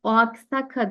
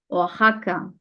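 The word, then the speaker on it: Oaxaca: diye okuyorum ya da bunu o Aksaka diye okumuyorum oaka oaka sanki bir hota varmış gibi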